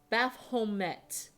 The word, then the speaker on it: Baphomet: Baphomet. Oh, only proper pronunciation here.